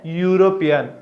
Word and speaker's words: European: A European. Euro, U. It also what? Long U sound.